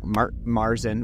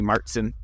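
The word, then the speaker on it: Märzen: and you're you know more American style marzin which we call marzin German speaking it would be Martinson so we uh we're wrong yeah we we mispronounced probably but um I like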